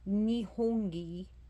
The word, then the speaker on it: Nihongi: creation and sources so ni nii hope I'm saying it right I believe I'm saying it right n i ho o n g i so the um trying